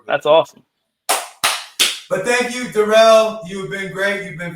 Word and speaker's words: Durrell: I hope everybody comes and checks out Durrell, not Darrell. Say his name right.